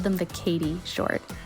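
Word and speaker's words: Cady: I called them the Katie short it's spelled c a d y kind of like Mean Girls Katie Heron did I say it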